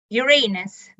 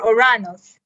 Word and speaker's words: Uranus: before we move on to the table topics uranus or oranos i have different pronunciation you guys call it what you like